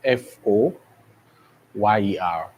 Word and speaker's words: foyer: I know from the spelling you have f O Y E R. Okay. But this is pronounced as foyer.